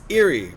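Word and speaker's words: Éire: Uh, old jame for Ireland for Ireland is eerie pronounced like error.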